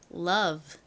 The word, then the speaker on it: love: 정말 많이 쓰는 단어입니다 그리고 규칙에 따르면 어우는 장모음 소리인 어우가 돼야 되는데 여기서는 단모음 소리인 어 소리로 쓰였어요 그리고 위는 진동이 들어간 소리가 나죠 자 연결해 보면 love love 사랑이란 의미에 love입니다 발음 따라해 볼게요